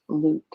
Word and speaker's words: Luc: there to fear right it's really interesting it's pronounced luke so okay my brain is not going to